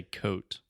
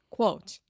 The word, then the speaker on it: quote: quote quote quote yeah first you just completely say coat quotes Alexia got a new